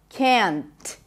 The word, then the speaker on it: can't: changes to can can't now I really pop the T here and that is perfectly fine can't but you might struggle with hearing the difference because sometimes native speakers might not pop the T the T after an N at the end of a word is usually a healthy and especially an after an N it almost feels like you are just stopping the N abruptly listen can't can't